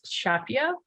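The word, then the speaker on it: CHAPEA: The Crew Health and Performance Exploration Analog, I believe pronounced SHAPIA. Feel free to correct me, anyone.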